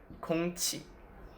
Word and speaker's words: 空气: Then there is the qi, like in 空气, which means air. Let's pronounce 空气, 空气, 空气.